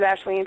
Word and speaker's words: Aisling: But it's pronounced Ashleen.